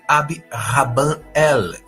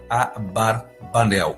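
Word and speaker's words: Abarbanel: a barbel Barb Nel a etimologia do nome é incerta alguns dizem que vem de ab rabanel que significa pai dos rabinos de Deus o que parece favorecer aí a pronúncia AB barbanel ou abra banel versado em Literatura rabínica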